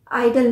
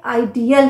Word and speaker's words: ideal: पर काफी ध्यान दीजिए आई डी ई ए एल आइडल नहीं है आइडियल है अ का साउंड आना चाहिए आइडियल जबकि आईडी ओ एल आइडल